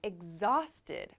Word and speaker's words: exhausted: pronunciation of this word this exh makes an EG egg so this ex ex sounds like egg actually it's making like a g sound almost so not exhausted but exhausted exhausted I'm exhausted exhausted